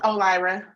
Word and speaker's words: O'Leary: Let's pass the matter and then let's call O'Leary or Lara. Correct pronunciation, please, ma'am. I'm sorry, it's O'Lyra. O'Lyra, I'm sorry.